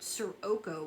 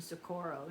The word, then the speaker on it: Socorro: I didn't know what Sirocco was, he said. He's mispronouncing Socorro, New Mexico.